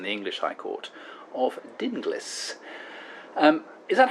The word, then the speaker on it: Dinglis: Is it Dingles rhymes with shingles, or is it, as you've said, rightly so, I believe, Dinglis?